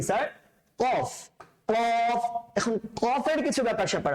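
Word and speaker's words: ق: কফটা আমরা যেন কাফের সাথে মিলিয়ে না ফেলি। হ্যাঁ, কফ এভাবে করে আমরা বৃষ্টি করি না, এভাবে উচ্চারণ করবেন, বাইরে প্র্যাকটিস করবেন, ভেতর থেকে, গলার ভেতর থেকে নিয়ে আসার চেষ্টা করবেন, কণ্ঠনালীর ভেতর থেকে নিয়ে আসার চেষ্টা করবেন।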